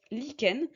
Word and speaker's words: lichen: Le lichen, vous voyez, ici on a le CH qui est prononcé que, donc il faut faire attention. lichen.